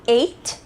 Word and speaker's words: ate: Nós também temos o eat, que vai virar ate, I ate, né? A pronúncia é bem parecida com o número 8 mesmo.